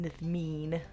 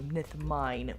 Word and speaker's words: Nithmeen: But yes, it is pronounced Nithmeen with an E sound instead of a Nithmine, but it's a very common mispronunciation. So it's totally fine.